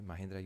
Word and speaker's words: Mahindra: Social Sciences in India, in a private university, Mahindra University. Is the pronunciation correct? Okay, Mahindra University.